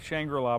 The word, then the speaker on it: Shangri La: how appropriate speaking of which we are at shangra La botanical gardens did I say it right that's